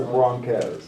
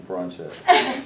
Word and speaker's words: Broncos: But it is the Broncos, not the Bronchos. Well, I know, Yeah. it's spelled chose, so.